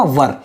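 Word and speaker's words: were: लिखा है वर, अब इसका प्रोनाउंसिएशन कैसे होगा, वर, ठीक है ना, इसको वेयर नहीं पढ़ेंगे ऐसे करके, ठीक है ना।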